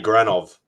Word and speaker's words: Granov: Adi Granov.